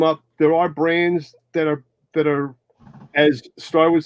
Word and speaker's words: Ariat: How do you spell that, the brand? It's ARIAT. Area.